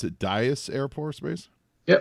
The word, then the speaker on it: Dyess: you're at you're in Abilene Texas it you pronounce it Dyess Air Force Base yeah Dyess Air Force Base how long you been there